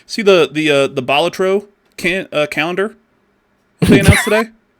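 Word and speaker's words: Balatro: I also I like to say Bolatro because I think that's actually correct. I think that is the right way to say it. Yeah, I think it's Bolatro.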